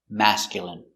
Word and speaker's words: masculine: Pronunciation, masculine. A, ma. S, mass. K, mask. Y, mask, y. Mask, mask. Mascule, mascule. Masculine. Masculine, masculine, masculine. Stress on the first syllable.